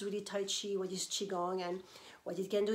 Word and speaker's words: Qigong: Qigong is pronounced Qi, as in C-H-I, and Gong, rhyming with long, as in G-U-N-G.